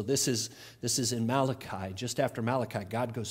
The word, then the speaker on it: Malachi: yet she must have known this passage it's Malachi a Keith you're Italian I heard there's another Italian in the room here somewhere that's pronounced mala chi for you guys it's mala Chi all right